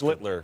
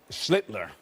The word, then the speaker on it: Schlittler: Every single one of you pronounce his last name. You kept first. Schlittler. Oh, well, he's the master. Schlittler. Schlittler. Now your turn. Sound like Hitler.